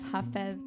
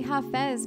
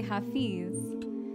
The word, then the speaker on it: Hafez: it has elements of hafez poetry woven into the drawing i say ha fez because that's actually how you're supposed to pronounce hafiz a lot of people say hafiz but it's actually hafez oh hi karen okay